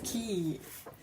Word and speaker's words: quay: Why do you write it quay? Is it if it's key?